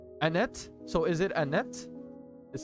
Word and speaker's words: Annette: lieutenant Penrose popped up don't pronounce the second e and end it Annette so is it Annette